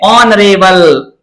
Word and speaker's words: ऑनरेबल: ऑनरेबल, इसमें भी S silent रहेगा प्यारे बच्चों, साइलेंट रहता है, इसकी भी ध्वनि किससे निकलती है? ओ से।